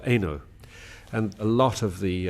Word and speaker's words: Eno: common Huguenot name is is pronounced Ino or Eno and a lot of